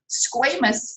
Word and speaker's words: squamous: Squamous or squamous, both are accepted pronunciations, but squamous cells are thin, flat, kind of irregular.